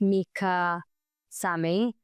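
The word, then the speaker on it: Micah Sami: It's @ it's Mika Sami. And my name doesn't sound phonetically like how it's spelled.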